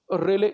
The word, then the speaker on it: Rayleigh: तो आकाश नीला दिखता है, अगर क्वेश्चन आ जाए तो आपका पूरा आंसर बनेगा रेले स्कैटरिंग। ये रेले एक साइंटिस्ट का नाम है, ये रेले, RAYLEIGH, थोड़ा स्पेलिंग अजीब सी है इसकी, रेले स्कैटरिंग, रेले प्रकीर्णन, रेले प्रकीर्णन।